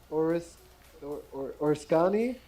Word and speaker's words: Oriskany: all on So, aircraft carrier USS Oriskany? Is that how you say it? Oriskany.